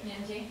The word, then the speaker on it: Nnindye: Nnindye.